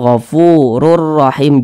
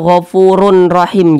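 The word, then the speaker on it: غَفُورٌ رَحِيمٌ: melebur ke huruf Ro Jadi dibaca gofururahim jangan dibaca gofurun rahim jangan tapi dibaca gofururahim rurahim kemudian jangan didengungkan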